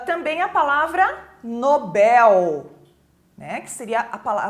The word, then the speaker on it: Nobel: ã também a palavra Nobel né que seria a a pronúncia correta é Nobel e não Nobel né algumas pessoas falam